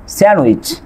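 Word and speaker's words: sandwich: তারপর এখানে খেয়াল করেন কয়েকটা ওয়ার্ড আছে, স্যান্ডউইচ, হ্যান্ডসাম, এখানেও কি হচ্ছে আপনার ডি লেটারটি কি হচ্ছে না, উচ্চারিত হচ্ছে না।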